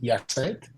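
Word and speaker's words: Hyacinthe: So my name is Yacinthe, but the H is silent in French.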